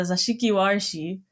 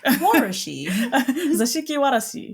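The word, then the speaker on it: 座敷わらし: There is a yokai called a Zashiki Warishi. Why did I pronounce that way? But anyway, what? I don't know. It's the Warashi. Zashiki Warashi. Warashi.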